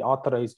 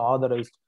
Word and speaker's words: authorized: Okay, you can't say simply, you know, authorized. It's like authorized. Tha. You have to say tha. Authorized. I'm not the authorized person. Okay. It will completely go off.